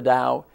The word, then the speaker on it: Tao: beliefs known as the Tao, spelled T-A-O, but pronounced just like Dow Jones, the Tao. The symbol of the Tao is to your left, to my right, over my shoulder.